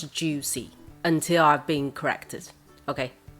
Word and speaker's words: Joocyee: juicy juicy because there there is a c in here i think according to its chinese name it should pronounce juicy until i've been corrected